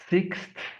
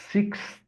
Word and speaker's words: sixth: Number six itself is going to be sixth. I know it sounds a little confusing, but we have the X sound six plus the th sound. Sixth. So combining them together and pronouncing a little quicker. Sixth.